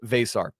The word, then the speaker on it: Veesaar: how to do it there's a v an e an S an A and an R the vowels are doubled that's all you need to know and then you pronounce it V like VA y SAR s r so Henry vasar all right coach this